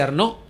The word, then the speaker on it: Arnau: Arnau se escribe, se dice Arnó.